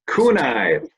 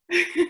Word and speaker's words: Kuehni: I have been mispronouncing her name. Kunai, for those out there. Kunai. Kuehni.